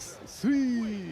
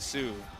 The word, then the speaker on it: Sui: How do you say it? Sui? It's like Sui. Okay, I said Sue.